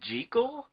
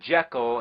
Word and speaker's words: Jekyll: pissed off lately you know that the proper pronunciation is G chol that's what the author of the novel insisted